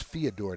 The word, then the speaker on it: Fedor: correction on on theodore it's theodore not fedor or fedor it's theodore thank you that's his name that's the way he'll pronounce it to you fedor the american version